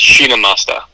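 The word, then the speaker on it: Chhinnamasta: Yeah, it's there's a few different ways to pronounce it, but the way that I put it in Google and had the audio played just so make sure I was saying it right. But it's basically just Shinamasta.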